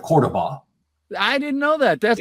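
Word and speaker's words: Córdoba: So Montalban, who's a native Spanish speaker, was forced to mispronounce Cordoba instead of Cordoba.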